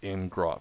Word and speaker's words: ngrok: So Charlie is looked up the FAQ, and it's pronounced ngrok, because grok is to understand in.